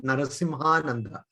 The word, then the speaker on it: Narasimhananda: Swami Narasimhananda. Yeah, it's pronounced as one word, Narasimhananda. There's no break.